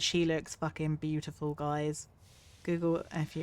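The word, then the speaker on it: Google-fu: Google FU is pronounced like Kung Fu.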